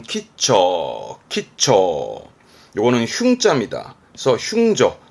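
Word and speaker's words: 吉兆: 발음은 키처.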